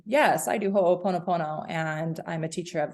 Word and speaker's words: ho'oponopono: Ho'oponopono. Yeah. Cool. So ho'oponopono is a really deep practice that I want to, culturally speaking, it would not be appropriate for me to say, yes, I do ho'oponopono and I'm a teacher of this.